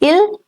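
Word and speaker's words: ils: all right only goals so it's l again in ill and L the S remains silent there is a change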